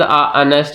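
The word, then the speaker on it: honest: जैसे ही इज अनेस्ट मैन, अनेस्ट में H silent है तो ये आपका रॉन्ग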